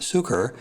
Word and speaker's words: Cuker: while it's pronounced at Sucher it is built C UK ER and I think you told me that may derive from the word sugar easy to remember well